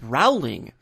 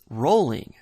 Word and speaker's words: Rowling: The author responsible for all this source material has a last name that is commonly mispronounced as Rowling, but I'm here to confirm that it's Rowling.